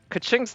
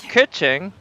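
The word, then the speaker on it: Keqing: Kaching's name isn't really pronounced Kaching. It's more pronounced more like Kuching, I think.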